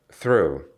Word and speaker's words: through: Through, через. Совпадает по произношению со второй формой, прошедшей формой глагола throw, through.